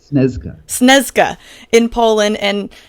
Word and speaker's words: Śnieżka: Yeah, so I mean, you came down from, I believe it's Mount Śnieżka. Is that how you pronounce it in Poland? Śnieżka in Poland, and it's